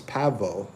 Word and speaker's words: pavo: In in Spanish it's pavo.